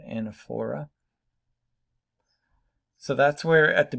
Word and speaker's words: anaphora: Okay, this technique is called anaphora or anaphora. Could pronounce it anaphora.